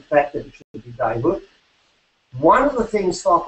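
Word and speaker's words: Djehuty: the god Thoth, his other, how is it pronounced now, Evan? It's not just Thoth, we've got that wrong. Dayhut.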